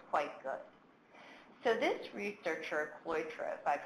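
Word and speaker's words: Cloitre: I think is quite good so this researcher cloy travaille pronounced correctly has done some really good research that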